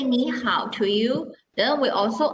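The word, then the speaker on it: 你好: say hi to someone we are not reading me how because that is too difficult to pronounce so we change the first word into second tone that's why when we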